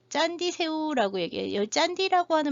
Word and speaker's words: Candi: 모르겠는데 여기 신기한 게 짠디 새우라고 얘기해요. 짠디라고 하는 말 굉장히 많이 나오는데 칸디라고 써놓고 이거 짠디 CANDI라고 쓰고 이거 짠디라고 읽어요.